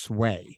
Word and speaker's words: SWA: But and they also opened a spot called it was SWA, but pronounced Sway.